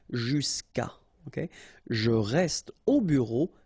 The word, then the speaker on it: jusqu'à: Normally what happens is that this final a will go away and then we'll put apostrophe. So that's the reason why we get this jusqu'à. Okay, and then phonetically, jusqu'à.